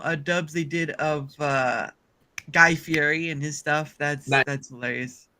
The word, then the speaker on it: Fieri: Isn't his name like Fieri, but it's spelled Fieri? It's Fieri. Fieri. Right. But I don't. One of those names that doesn't sound like it's spelled right.